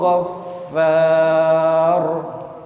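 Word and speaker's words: غفار: Ala huwal azizul ghaffar. Ala huwal azizul ghaffar. Ghaffar. Iya, artinya ro-nya memang diucapkan dengan kuat ya.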